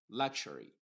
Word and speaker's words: luxury: Mientras que en la otra palabra, la X está formando el sonido K más la SH, luxury.